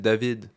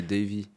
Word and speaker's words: Davy: En fait, mon vrai nom c'est Davy, mais voilà, au Canada par exemple, ils me rajoutent toujours des petits suppléments. Ils m'appellent David.